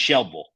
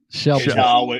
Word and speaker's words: Shelbyville: when I lived there, the Y is silent, right? It's just Shelbyville. Shelbyville. Yeah, it's just Shelbyville. Okay. The way I remember. Say that one more time. Shelbyville.